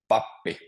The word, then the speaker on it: pappi: And Ziodullah, if you want to say pappi.